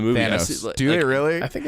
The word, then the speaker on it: Thanos: How do you say his name, Robert? Because I think Colin and I say it differently. Thanos. They say it both ways in the movie. Thanos.